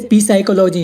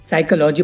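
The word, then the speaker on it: psychology: और इसमें देखो गाइस, एच से पहले पी है तो पी साइलेंट है, इसे पी साइकोलॉजी नहीं पढ़ेंगे, साइकोलॉजी पढ़ेंगे, इसकी हिंदी होगी मनोविज्ञान।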